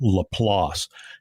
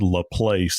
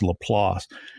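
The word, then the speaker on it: LaPlace: in a place called Lelass. And people that are not from South Louisiana, many times they'll call it La Place. And that's the way it's spelled, but it's Lelass.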